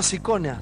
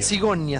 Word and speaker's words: Sigonia: Que es la primera vez que viene el diputado Sicona, se llama... Sigonia. Sigonia, Sigonia, así se pronuncia, Sigonia del Frente para la Victoria.